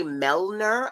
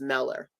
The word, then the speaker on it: Meller: I want to say Melner. I don't know why I always put N's in his name, but I believe it's Meller.